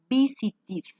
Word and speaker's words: visited: Cuando un verbo termina en t de tetero y es un verbo regular, la pronunciación es id, visited. Visited. Suena como una i y una d al final.